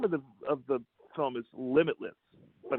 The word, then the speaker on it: Limbitless: It's the name of the film is Limitless, but it's spelled with a B, Limb, limb hyphen itless, LIMBITLESS, adventure songwriting.